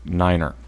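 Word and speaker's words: niner: flyff fi Fe and nine is nine ER right everybody knows that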